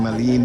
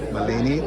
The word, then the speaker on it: Malani: um uh malen malen I'm saying it wrong I'm saying Maline but it's actually malani who is let me